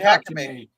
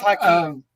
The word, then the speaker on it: Hakeem: Is it You Hakeem or said Hakame. Hakame? Hakeem. It's Hakeem.